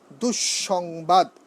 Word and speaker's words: দুঃসংবাদ: যদি শব্দের মাঝে থাকে দ্বিত্ব হবে, দ্বিত্ব হবে, দ্বিত্ব হবে, মানে দুবার উচ্চারণ হবে। যেমন দুঃসংবাদ, দুঃ, দুঃসংবাদ, দুঃসংবাদ, দন্তস্ব দুবার উচ্চারণ হয়েছে, কি হবে?